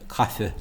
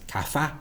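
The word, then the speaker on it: caife: I just mentioned, actually pronouncing E at the end of a word as English a rather than I in Irish. So instead of saying cafe, cafe, cafe, he says cafa, cafa, cafa, Casa.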